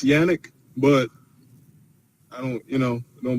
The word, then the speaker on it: Yannick: It's Yannick, but I don't, it don't bother me.